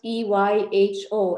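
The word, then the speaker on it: EYHO: you say it it's it's just e-y-h-o as in eat your heart out it's basically uh yeah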